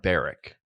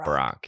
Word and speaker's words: Barrick: great flow well it's Barrick is really how it's pronounced Barrett Chris so people pronounce it Brock yeah yeah yeah yeah